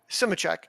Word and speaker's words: Simecek: Simich. Simich. I pronounced it perfectly in my You did.